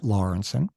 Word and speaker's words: Lawrenson: today uh is here with us lawrenson hope I got your name right I didn't